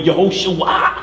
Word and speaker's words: Yehoshua: No, you got to say it this way, Yehoshua. Yehoshua. Come on, ooh, ooh, make the ooh sound.